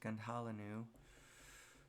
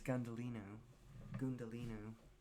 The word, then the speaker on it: Gundhalinu: End, where BZ Gundalinu, that I always pronounced Gundhalinu, but his name, as the author tells us, is Gundalinu.